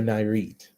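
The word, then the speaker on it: Nayarit: Now, this is located in the Riviera Narite. I believe that's how it's pronounced.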